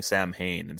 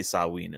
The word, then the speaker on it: Samhain: then saying instead of instead of say pronouncing it correctly saying Samhain because you you activate Celtic ruins by mispronouncing like and I had lost spectrum because he was really studying Celt he would known to say saw weaned and not that's what